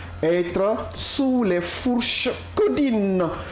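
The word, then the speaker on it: Caudines: Codine. Codine qui s'écrit comment ?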